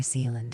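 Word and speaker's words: Zeeland: Near Zealand, is that how you pronounce it?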